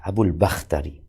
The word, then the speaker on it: Abul Bakhtari: Abul Bukhtari atau Abul Bakhtari ya, Abul Bakhtari.